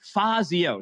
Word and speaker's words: Fazio: was saying wrong and it was my uh my stressor so it's actually fazio so fazio i